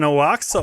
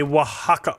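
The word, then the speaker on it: Oaxaca: because um you can make an oaxa old-fashioned which is amazing and also one of my favorites or sorry a wajaka old-fashioned is is actually the pronunciation.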